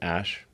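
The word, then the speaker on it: Æ: letter X and then the AE is like pronounced ash that's yeah Oh a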